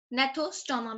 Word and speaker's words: gnathostoma: Nathostoma, basically G is silent.